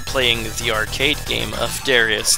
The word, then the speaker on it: Darius: And for the longest time, I kept pronouncing it Darius. It is supposed to be pronounced Darius.